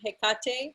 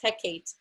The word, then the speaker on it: Hecate: Now, some people pronounce her name Hecate and some people pronounce Hecate. So either way is fine. It's just different ways of saying it.